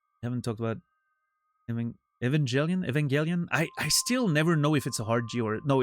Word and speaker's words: Evangelion: hard G or no, it's a hard G because my natural way of saying it would be Evangelian with like a soft G and I know I'm wrong.